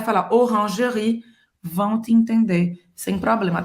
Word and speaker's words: Orangerie: Olha, eu não vou falar Oran. Orange, olha aqui, faz a boca do O e fala E fala E. Orangerie. Esse E no final não se pronuncia. Orangerie.